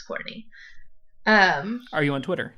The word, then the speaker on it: Kourtnea: Z underscore age but my name is spelled kou RT and ei so that's Courtney um are you on